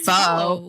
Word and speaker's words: pho: I know, because everybody's like, pho. No, girl. Forget about that. It's pho.